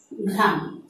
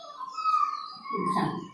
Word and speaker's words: অঘ্রাণ: ঘয়ের সাথে যখন রফলা ব্যবহৃত হবে প্রথমে উচ্চারণটি হবে গয়ের মতো, তারপরে ঘয়ের মতো। উচ্চারণটি যদি আমি নির্ণয় করে দেখাই তাহলে উচ্চারণটি হচ্ছে অঘ্রাণ। আমি নিচে লিখে দেখাচ্ছি, অঘ্রাণ, অঘ্রাণ।